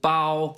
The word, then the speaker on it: bao: a taiwanese restaurant called bao which is good i like how you pronounce it is that the correct production it is actually yeah because first tone means bag um okay yeah is